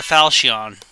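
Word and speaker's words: Falchion: oh hey the falcion that is how you pronounce it by the way it's pronounced falcion up and my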